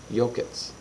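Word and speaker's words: Yokuts: Yokets.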